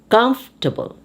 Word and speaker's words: comfortable: testimony testimony comfortable comfortable now this is a word where you also drop the or comfortable comfortable baptism baptism now